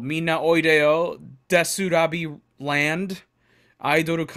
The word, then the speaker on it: DESU: how they wrote it the pronunciation is the same because it's set in a Japanese Way which is des Wow looks like they